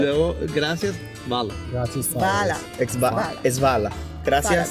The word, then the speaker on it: hvala: Y luego, gracias, vala. Vala. Es Vala. ¿Qué Gracias. Como Fala. un poco. Svala. Svala. No. Vala, vala. Vala. Mira, imagínate HVA. HVA. Svala. Ajá. Svala. Por ahí va.